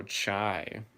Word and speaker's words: chai: Oh, chai. Okay. Like a chai latte.